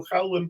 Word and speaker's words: Jadue: ahí surge el apellido Jadu en Palestina. Pero si ustedes ponen la palabra Jadua, pero con E final, no como se pronuncia aquí, Jadue, ustedes van a ver que son todos yemeníes.